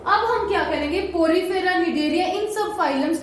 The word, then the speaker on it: Cnidaria: P-O से Porifera, नी से निडेरिया, C silent.